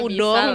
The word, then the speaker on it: udon: enggak udong enggak udah udah ngerti harus bacanya P udong benar kan ya Oh iya enggak Oh gitu i baru baru baru tahu bukan Udon kalau Udon tuh salah harus kalau di bahasa Jepang n itu jadi Eng bisa juga m